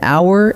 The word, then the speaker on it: hour: But an hour and an honest answer take an, even though they start with the letter H, because that H is silent.